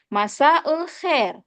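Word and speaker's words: مساء الخير: pagi selamat pagi tadi Selamat sore itu juga bacanya masaul Khair masaul Khair jawabannya masaun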